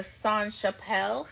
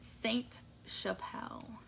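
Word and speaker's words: Sainte-Chapelle: this month is the sun Chappelle hat or Saint Chappelle I always want to say song but there's an e at the end which means the T you pronounce it Saint Chappelle this is a really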